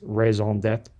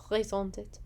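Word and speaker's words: raison d'être: by the world, but I believe it's raison d'etre. Raison d'etre. Basically, reason to be, reason for being. Okay. Because we all know a frat bro's raison d'etre is to prevent assault.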